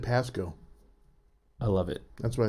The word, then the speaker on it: Pasco: say the pasco pasco i always say pascal i know it's wrong pasco i thought sunnyside washington yakima washington i highly recommend it if you're ever i always said pasco i love it that's